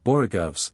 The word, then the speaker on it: borogoves: Again, the first O in borogoves is pronounced like the O in borrow. I have heard people try to give it the sound of the O in worry. Such is human perversity.